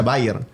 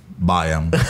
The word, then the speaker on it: Bayern: Pero normalmente la gente pronuncia Bayer. ¿Y cómo la se gente pronuncia? Dice Bayer. O vas a matar cucarachas, le ¿y digo. ¿Y cómo se pronuncia? Ah, Bayern.